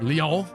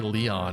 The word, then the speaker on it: Lyon: The one I always reference is the character from Fire Emblem 8, spelled Lyon, is often pronounced Leon. But they say it, I think they even say Leon in some of the versions too.